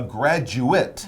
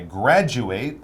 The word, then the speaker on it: graduate: who graduates is a graduate that's right now notice the pronunciation is a little bit different i graduate that's the verb we're using in the article i am a graduate that is the noun but both basically mean